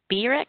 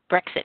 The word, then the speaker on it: Brexit: What would be the effect of BREX? Did I pronounce that right? Brexit. Brexit, thank you.